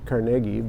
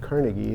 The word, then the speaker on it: Carnegie: which was carnegi Pennsylvania and uh which is pronounced carnegi by Andrew carnegi not Carnegie as they say in New York uh and